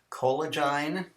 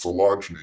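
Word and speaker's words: Coelogyne: Like, is this Colegine? Put your hands up. It's not Colegine, it's Colegine, you fool.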